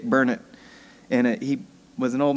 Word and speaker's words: Burnett: Actually, I didn't spell it, I just said it, but most people would say Burnett, but it's Dick Burnett.